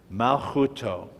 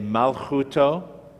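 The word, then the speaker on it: מלכותו: That's the mem with the the patach vowel. Ma, lamed is the L sound. Again, the silent shava makes this the first syllable. Malchu. This is the kaf again without the dot. The vav with the dot in the middle is the u sound. Chu, mal, chu, and the tav is the letter T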